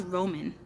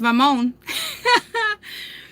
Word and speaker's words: Ramon: That's Roman. Because, nah, she said Roman. And I started dying laughing. Because I'm like, oh, you butchered his name. It's Ramon.